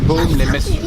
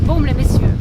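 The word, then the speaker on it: Baume-les-Messieurs: Do I pronounce it right? Baume les Messieurs. Baume les Messieurs, right.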